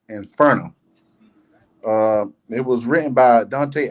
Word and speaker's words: Inferno: In Italian, it's pronounced as Inferno.